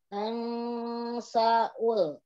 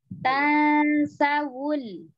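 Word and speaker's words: تنسوا: Ya, Umi bacanya gini. Tansaul. Sa-wul. Jangan dipisah, Umi. Kalau dipisah nanti seperti sakta. Di sana gak ada sakta ya. Tansawul.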